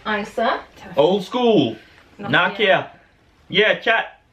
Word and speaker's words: Isa: So her name is pronounced Isa.